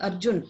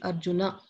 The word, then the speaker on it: Arjuna: If there is no dash, you have to add the akara. Okay, so in Sanskrit, that will be the correct pronunciation. So it will not be Arjun, it will be Arjuna.